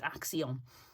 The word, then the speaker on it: Action: Then we went to a shop called Axion, which is actually, if you look at it, it's spelled action in English, but it's pronounced Axion.